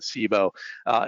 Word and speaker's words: CBOE: Board Options Exchange, or the CBOE, and they pronounce it CBOE.